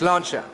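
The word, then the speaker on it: sláinte: do you say cheers in Irish okay it's launcher yeah very thank you very much Stephanie what's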